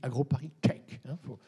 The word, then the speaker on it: AgroParisTech: d'un gros paristech finale d'ailleurs on dit agroparistech veut pas se tromper dans la prononciation qui est des mesures